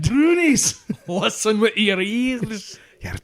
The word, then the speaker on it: brownies: more likely what are called brunies spelled brownies which I'm think probably 90% of whoever talks about them calls them brownies but yeah I I saw that the pronunciation should be brunies probably because it's usually said by a Scotsman that's what I was